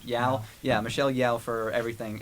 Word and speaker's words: Yeoh: Why I keep forgetting how to pronounce her last Yao. name? Yao.